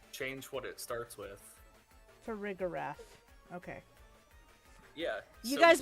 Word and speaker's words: Farigiraf: Farigarath.